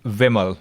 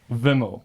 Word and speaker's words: Vimal: There's a slight change in pronunciation. Okay. It's Vimal with a short E. Vimal.